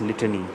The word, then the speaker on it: litany: Pronunciation is litany, li, teni, teni, teni, li, teni.